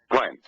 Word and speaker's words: Glen: special needs kids right my name is Glen four letters and it's Glen that's my name properly pronounced now I've worked with